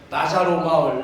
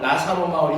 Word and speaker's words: 나사로: 그래서이 나사로라는 이름 자체도이 이야기이 민화에서 끌어온이 이야기에서 나사로란 이야기 나자로라고도 발음하죠. 하나님이 도우신다라는 뜻을 갖고 있어요. 그래서 보통 이런데 시절 같은데 병원 같은데 보면 나자로 마을 나사로 마을 이렇게 표현되잖아요. 나사로나 나자로나 다 똑같아.이 발음상의 차이인데 하나님이 도우신다라는 뜻을 갖고 있어요.